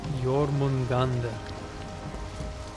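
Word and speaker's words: Jörmungandr: Jormungandr. Okay, thanks for the pronunciation.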